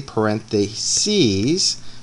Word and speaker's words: parentheses: them differently as well the singular sis is what we're familiar with like the word parentheses is one only but if you're talking about parentheses going on both sides of a word if you want to talk about that together they are the parentheses you pronounce it ease and you write SES so the plural form